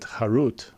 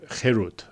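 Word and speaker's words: חרות: Do not pronounce it Harut with a kamatz, a punctuation mark, under the chet, but rather Cherut, freedom, with a tzerech,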